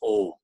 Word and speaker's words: Om: Pronouncing the Om sound is very good. It has a little bit differently practiced, like it has 3 syllables, A, U and Ma. Then when it's combined together, it becomes Om.